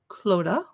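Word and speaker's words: Clodagh: up clothes suppers i looked up how to pronounce her name cloda hope i did okay suppers to celebrate the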